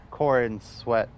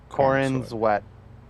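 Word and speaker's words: Corenswet: no no no no no no David David Corn sweat corin's wet it's David it's spelled last name c-o-r-e-n-s-w-e-t I don't know what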